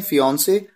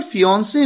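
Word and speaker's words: fiancée: Pronunciation बिल्कुल same होती है, स्पेलिंग में एक ई एक्स्ट्रा आ जाता है जब बात किसी लड़की की हो।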